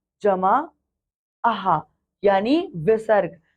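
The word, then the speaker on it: अः: पढ़ा था इसे हमने अहा पढ़ा था है ना क्या पढ़ा था इसको हमने अहा पढ़ा था क्योंकि इसको अहा था इसीलिए इसका उच्चारण भी आहा ही होता है किंतु इसे विसर्ग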